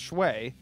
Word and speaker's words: Schwae: Well, it's Shway. Yeah, that Shway would James. be the correct pronunciation for how it's spelled.